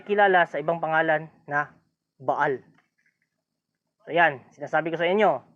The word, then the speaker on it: Baal: doon pandaraya pa rin Bal pero ang complete na pronunciation doon ay baal medyo mahaba ngayon ah ilang ah ilang